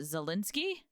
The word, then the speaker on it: Zelensky: I've definitely seen a lot of positive stuff about, how do you pronounce it? Zelensky?